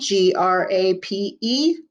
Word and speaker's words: grape: slide them together grape make sure you put that silent e at the end g-r-a-p-e grape you don't want it to say grap you want it to say grape g-r-a-p-e grape number seven